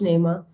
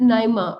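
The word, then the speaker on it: Naima: नेमा मुझे बताएं, अपना नाम प्रोनाउंस करके दे, चैट में लिख के बताओ, क्योंकि जो आपने लिखा हुआ उसके हिसाब से तो नेमा बन रहा है। तो इसका मतलब नाइमा, ओके नाइमा, सो इसका मतलब ये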